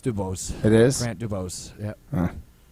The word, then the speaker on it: DuBose: like to cut draft picks but is it pronounced Dubois no it's Dubose it is Grant Dubose yeah he's out here